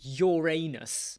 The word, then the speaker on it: Uranus: I say Uranus. So Jake, Uranus. Other people would say Uranus, but Uranus sounds a bit like urinal. Think about it. Uranus sounds like urinal, whereas Uranus is talking about the other side of your body.